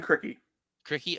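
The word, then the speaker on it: Krikke: but yeah um um Jonathan how do you pronounce the last name of that the new Iowa Center uh Ben crickey okay like very good half court player he's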